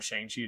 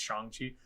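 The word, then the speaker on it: Shang-Chi: that's how you say it's not shangshi it's changji uh I trashed that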